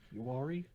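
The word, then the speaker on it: Uwharrie: I let you guys know on Friday, and we were going on Sunday to Uari. Yeah, it's pronounced like the three letters URE, but it's spelled crazy.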